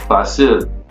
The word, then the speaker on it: fácil: Okay, so fácil means easy, and because it ends in a consonant, it should follow rule number three, right? The stress would be on that last syllable, the I, but it doesn't. And because it doesn't, because the stress is on the A, we have to put